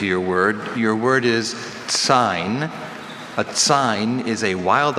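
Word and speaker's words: tsine: Sign is a noun.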